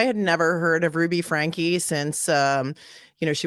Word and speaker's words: Franke: and and just um she calls herself Frankie even though it's spelled Frank f-r-a-n-k-e so I just call